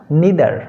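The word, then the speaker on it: neither: তারপরে যে শব্দটি দেখবো সেটা হলো নিদার, বা তোমরা উচ্চারণ এটাকে নাইদারও বলতে পারো বা নিদারও বলতে পারো।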